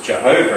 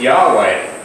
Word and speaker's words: Yahweh: very name means Jehovah saves well we now pronounce it as Jehovah rating or do is Yahweh the grammatical experts have found out that we've